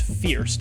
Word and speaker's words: First: the grindal it's called it's spelled first but it's pronounced Fierce it's the fierce cable